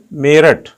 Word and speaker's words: मेरठ: मेरठ की स्पेलिंग क्या है? MERUT। अब बोलते क्या हम? मेरठ, है ना। तो प्रोनाउंसिएशन हम कुछ करते हैं, लिखते कुछ हैं, है ना। तो ये तो अंग्रेजी कारण हम करते हैं, लेकिन हमारा प्रोनाउंसिएशन क्या है? MERATH।